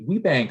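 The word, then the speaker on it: WBENC: WBEC Pacific is that's the Women's Business Enterprise Council, and they have a WeBank certification, is how you pronounce that.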